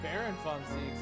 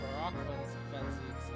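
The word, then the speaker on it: Barok van Zieks: Oh, I've been reading Baron Van Zeeks. That's Barak Van Zeeks.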